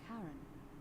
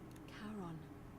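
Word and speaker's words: Charon: Only your pronunciation is a little off. The name you heard wasn't Karen. It was C H A R O N. as in Kon, the fairyman of the dead. Kon, who in exchange for the right coin, helps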